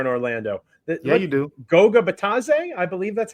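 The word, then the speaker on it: Goga Bitadze: Goga Batadze, I believe that's how you say it.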